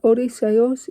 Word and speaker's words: Odysseus: Like Odysseus, Achilles, I don't know, but all I know is that Odysseus is the correct pronunciation. It's like Menelaus.